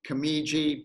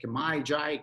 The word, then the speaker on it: Kemiji: last name cami G people don't know how to pronounce it they say kamae die Kenji they think it's Japanese until they meet me and I don't happen to look like a person of Japanese descent it's actually greekcypriot so early on I